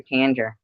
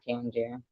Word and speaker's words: Tanger: Tan, but you're Tanger, not Tangier.